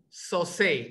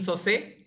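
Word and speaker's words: Sosei: name correctly is the team so say yes that's correct perfect uh judges this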